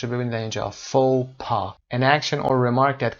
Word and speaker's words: faux pas: Okay, faux pas تلفظش رو ببینید اینجا. faux pas, an action or remark that causes embarrassment because that is not socially correct.